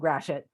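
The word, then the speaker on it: Gratiot: the street and by the way it's called grashit and i know it gets to get fixed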